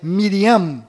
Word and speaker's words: Miriam: menos sofreram mudanças foram Maria que na verdade é Miriam com m mudo no final Rei Davi que na